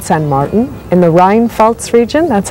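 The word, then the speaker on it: Rheinpfalz: We're in a wine growing village called San Martin in the Rinfaltz region. That's how you pronounce it.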